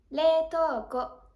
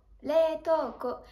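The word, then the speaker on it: 冷凍庫: Le congélateur, leitoko, leitoko. Ici, pareil phonétiquement que pour le réfrigérateur, on va pouvoir aspirer les voyelles i et u.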